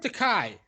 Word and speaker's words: Takei: I've heard Takai from him.